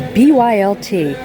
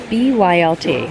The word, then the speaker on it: BYLT: BYLT. It's like an activewear brand. New to me. I know some of you guys knew about it, and I guess it's pronounced built.